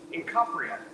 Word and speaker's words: Incopria: Incopria. Incopria. It looks like it'd be incorporated or something, but it's Incopria. C-O-P.